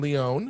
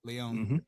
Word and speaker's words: Leone: Directed again by Damien Leone. Is that how you say his name, Leone? Yep, Leone.